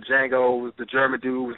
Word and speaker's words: Django: process ISS about first what is the pronunciation in that movie Jango yeah Jango and please you you